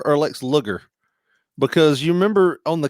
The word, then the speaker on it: Luger: But Now, but is this Lex Luger or Lex Luger? Because you remember on the Chiron, they promoted Lex Luger, and it was spelled like sugar with an L.